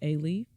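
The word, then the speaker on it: Alief: I went to A-Leaf schools, and A-Leaf is spelled A-L-I-E-F. Kind of like relief. No, so like A-Leaf, A-L-I-E-F.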